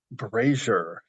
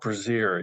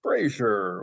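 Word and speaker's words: brazier: I realized I'm a it's pronounced braier not brazer you idiot of course anyway I mispronounce it like five more times and so now I have the Mari and Webster guy uh saying braer with a Little Star Trek special effects in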